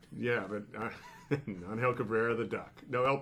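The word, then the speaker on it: Ángel: Love Is that his pronunciation? Angel, yes, I Angel.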